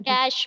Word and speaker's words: cache: कैश memory. कैश है ना, बोलने में कैश, जो रुपए वाला कैश होता है ना, यस मैम। रुपए वाला कैश, तो उसका जो प्रोनाउंसिएशन है वो वही है कैश, लेकिन लिखने में ये